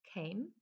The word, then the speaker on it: came: problem z tym czasownikiem czasie przeszłym wymawiamy tą Came w czasie teraźniejszym czy formę podstawową wymawiamy com i tak samo trzecia